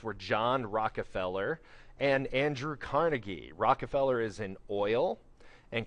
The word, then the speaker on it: Carnegie: explains more about John D Rockefeller and Andrew Carnegie is an is a uh Scottish immigrant his name is actually pronounced traditionally carnegi and he although he does